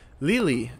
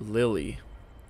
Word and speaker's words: Lili: And some people in the comments are telling me that it's pronounced Lili and not Lily.